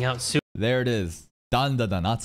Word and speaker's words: Dandadan: Dandadan, that's how you say it.